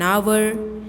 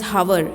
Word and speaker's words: hour: Example, an umbrella, an owl, an image, an hour. It is not known as hour, it is hour, O-U-R, H is silent.